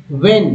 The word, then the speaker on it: when: पहले वाला स्लाइड से, व्हेन, इसमें एच साइलेंट है, ई एन को एन बोलते हैं, व्हेन शी आस्क्ड फॉर